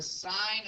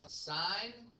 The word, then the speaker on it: sine: For example, the sine of angle A is written as sine A. By the way, I know that it's sin, cos, tan. It's pronounced sine, cosine, and tangent.